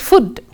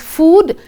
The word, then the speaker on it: food: It is not pronounced as food. It is pronounced as food. Hence, the rhyming word can be mood.